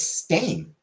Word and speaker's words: Stain: It's Stain, and it's always been Stain.